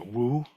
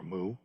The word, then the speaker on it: Wu: Now, like I said, we already discussed the character Wu, no, or Mu, as Western Zen students are more likely to pronounce it, in the last class, last month's class.